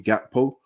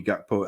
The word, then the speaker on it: Gakpo: So for me, I'm not going to speak about Cody Gakpo as of yet. But what I will say is that if we are looking at Cody Gakpo, or I think it's pronounced Yakpo, we are we're not